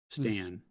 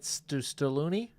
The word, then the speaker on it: Stan: Stan. Lieutenant Stalloon? Lieutenant Stan is literally the easiest name I can give you, dude. Lieutenant Stan. It's one syllable.